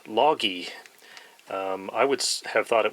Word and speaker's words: Lage: see the brand name there apparently that is pronounced log e I would have thought it was pronounced lage but on the back of the bag they